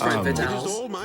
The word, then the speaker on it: Frame Fatale: It's Frame Fatale.